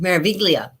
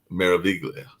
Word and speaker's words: Meraviglia: So It's, definitely it's, it's actually pronounced Meraviglia. Meraviglia.